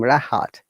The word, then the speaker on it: Rahat: If the word starts the letter R, and if there is a vowel sound after letter R, we must pronounce it like my name, Rahat, or risk, rest, rana,